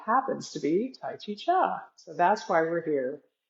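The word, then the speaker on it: Chih: That third little word is pronounced cha like chuck wagon.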